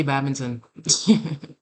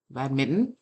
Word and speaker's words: badminton: I used to play badminton. Or badminton, as most Americans say. I don't know why they don't know that there's an N in there.